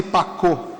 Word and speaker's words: Pacot: Simone Pacô, é Simone Pacote se escreve, eh, a evangelização das